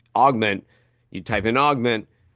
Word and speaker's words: AVGMNT: Um, so we want to augment, so it's spelled AVGMNT.